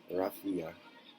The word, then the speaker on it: Rafi: My older brother, Rafi, Short for Raffaella, yes, pronounced the same as the children's singer, was was the one who told me the details of my mother's death years later.